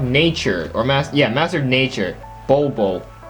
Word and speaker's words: Bolobo: And then finally, this guy, the Master of Nature, or Master of Nature, Bolobo. It's just so hard to pronounce his name. It's B-O-L-O-B-O, Bolobo.